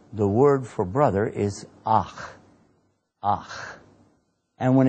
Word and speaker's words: akh: In the Arabic language, the word for brother is akh, akh.